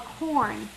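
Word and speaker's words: Quorn: that we're going to use is actually called corn okay and it's not corn like a grain right it's spelled q-u-o-r-n okay and it's some it's a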